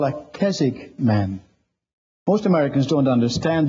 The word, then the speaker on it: Keswick: Joseph Jenkins he was what they call a Keswick man most Americans don't understand they've heard the word sometimes they pronounce it Keswick but it's Keswick by the way this was the first year